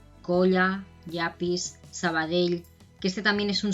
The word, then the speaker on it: Sabadell: también es un sonido, cuando lo encontramos al final de una palabra, para la gente que no está acostumbrada a hablar catalán, pues les cuesta un poquito hacer, ¿no? Suelen confundir esta L con una I, Sabadell, ¿no? Y no sería correcto, Sabadell.